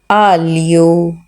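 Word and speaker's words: aglio: जाता है पंजाबी में अलियो के अगर स्पेलिंग देखा जाए तो इसमें जी एल और आई जो है यह ली की आवाज देंगे य आलि आलि ठीक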